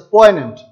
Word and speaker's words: poignant: This is pronounced as poignant. This is not pronounced poignant, means arousing sadness, or a bitter memory.